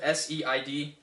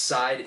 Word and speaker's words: Seid: It's spelled S-E-I-D. It's pronounced Seid. My last name is pronounced Seid. It's fucking German. It's a German last name.